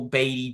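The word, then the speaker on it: Baty: that with the Mets as Brett bate is his name batty side is that how you pronounce it right batty yep batty he he had the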